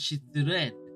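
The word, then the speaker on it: 失恋: So, failed and so shitsu and I, but it's pronounced as shitsuren.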